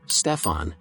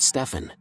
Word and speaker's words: Stephen: The Nike representative who was trying to close the deal called him Stefan and not Stephen.